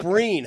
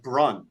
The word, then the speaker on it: Breen: numerous I've had multiple I mispronounced my own name on the airs it's Mike Breen how that's hard to do it just came out like Brun for some reason it